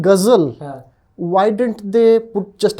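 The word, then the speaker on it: ghazal: you don't pronounce it gzel like the unwashed masses they put in a little H there to indicate there is guzzle gazel right and very similarly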